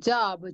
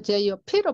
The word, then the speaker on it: job: 근데 여러분 job, Job를 job 해버리죠. JOP로 발음해버리잖아요. 근데 JOP라는 영어 단어는 없어요. 영어에는 없는 단어예요.